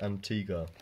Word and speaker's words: Antigua: tiga it's not what i said yeah that's pronounced antigua it's like yeah but it's antigua no it's